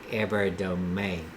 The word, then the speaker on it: Evardome: Okay, so it's kind of like the E is pronounced in A. Okay. Because over here it would be pronounced dome. So over, I guess, in maybe the Filipino language, maybe it's the E is pronounced as an A.